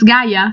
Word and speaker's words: Gaia: Oh, well, that's because that's how we say it in Italy. It's Gaia, so that's good.